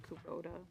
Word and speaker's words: Kubota: Kubota?